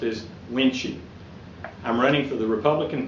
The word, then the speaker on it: Wuensche: My name is Wuensche, pronounced as Wuensche.